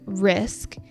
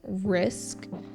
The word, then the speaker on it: risk: We see this in words like task and risk, and even in the middle of words like rescue. Vietnamese speakers often drop the k sound, so instead of saying risk, they say ris.